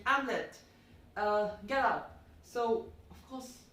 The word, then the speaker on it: Hamlet: If we follow the French pronunciation, you won't be pronouncing the H, and the T will also not be pronounced. So it will be simply Hamlet.